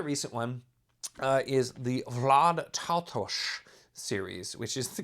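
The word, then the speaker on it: Taltos: Another recent one is the Vlad Tautosh series, which is the correct pronunciation apparently.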